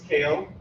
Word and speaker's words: Kale: My name is Kale, just like the vegetables, spelled like that and everything.